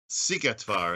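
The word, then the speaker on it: Szigetvár: as you what's this battle that i can't pronounce what's that all about sigetvar it's a battle between the hungarians and the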